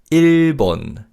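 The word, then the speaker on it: 일본: And Japan in Korean is ilbon.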